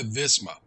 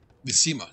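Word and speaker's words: Vizima: Near Visma. Visima, sorry. Visima.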